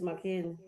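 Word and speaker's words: Makin: Spell the full thing. Is it McKin? You said M A K I M. M A K I N.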